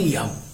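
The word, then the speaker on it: যম: ইয়ম বাংলায় অবশ্য আমরা জম বলে থাকি, কিন্তু সংস্কৃত উচ্চারণে ইয়ম।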